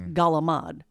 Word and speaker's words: calamari: calamari becomes galamad. Now, Wow. if you go to Calabria, they say it more similarly to that than they do to the real Italian pronunciation.